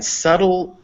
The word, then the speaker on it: subtle: okay so yeah so b is sometimes also not pronounced in front of t's or d's um there's no real rule for this because obviously it is sometimes pronounced before a t as in obtain or option but yeah in subtle and debt which is spelled uh that it's not uh so the reason for